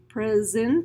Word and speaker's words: present: named nasal Z their present Z there lots of students for some reason in this transcribe present with an S but it is Z is is also busy